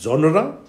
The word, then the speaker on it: genre: you this example to pronounce the word correctly that is genre the two syllables are there coming to number two